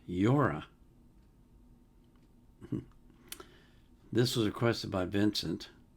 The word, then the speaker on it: Llora: It's spelled L L O R A, so I'm assuming it's pronounced Yora.